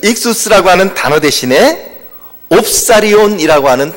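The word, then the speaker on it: ἰχθύς: 보통 익수스라고 그렇게 발음을 합니다.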